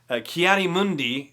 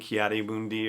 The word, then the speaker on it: Ki-Adi-Mundi: Ki-Adi-Mundi, which is, I believe, how Mace Windu pronounced it, thinks that Yoda may be susceptible